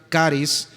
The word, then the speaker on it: charis: La palabra gracia viene del griego en su escritura natural es charis pero se pronuncia caris, significa favor inmerecido y note esta segunda definición encanto o belleza, asimismo gratitud.